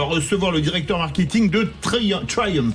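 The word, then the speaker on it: Triumph: le directeur marketing de Trium pour le prononcer à l'anglaise qui vont sortir 29 modèles dans les 6 mois à venir.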